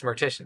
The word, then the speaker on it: Mortician: From Mortician, yeah, it's Mortician.